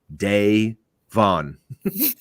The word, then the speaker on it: Devon: devon so he's like this is how you say my name day vaughn thank you thank you